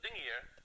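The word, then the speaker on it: dingir: We pronounce it dingier when it means god.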